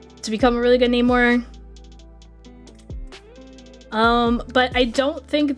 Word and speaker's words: Namor: Some characters pronounce it Neymar. Some characters pronounce it Namore.